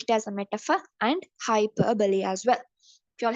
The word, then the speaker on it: hyperbole: take it as a hyperball also hyperb we pronounce it's not hyperball okay most of the teachers and the students say it is hyperball but it's not hyperball it's hyperbole okay hyperbole means exaggerating ere exaggerating so he's